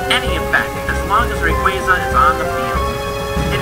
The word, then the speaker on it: Rayquaza: Rayquaza's name is oftentimes pronounced as Rayquaza. This makes sense and all, and I even find myself pronouncing it that way, but its official pronunciation is indeed Rayquaza.